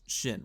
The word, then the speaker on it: Shin: an order to uh to to it's it's pronounced Shin right yeah shin hotti and then and she